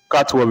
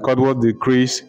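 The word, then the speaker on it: Cutwolfe: Catwolf is spelled C-U-T-W-O-L-F-E, Catwolf.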